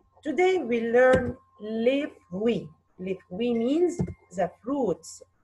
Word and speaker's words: les fruits: Les fruits. Répétez. Les fruits. Les fruits. What is the silent letter here dans les fruits? Bravo. T and the S. T and the S are silent letters.